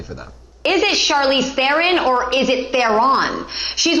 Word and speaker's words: Theron: Is it Theron?